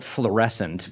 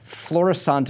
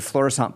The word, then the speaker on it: Florissant: occurred in the city of uh Florissant I think that's the way it's pronounced I want to call it Flores but I don't think that's right Florissant Missouri a suburb about